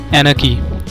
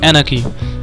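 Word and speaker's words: anarchy: तो दोस्तों आज की हमारी पहली वोकैब है, ध्यान से दोस्तों प्रोनाउंसिएशन सुनिएगा, एनाकी। क्या प्रोनाउंस करते हैं दोस्तों इसको? एनाकी।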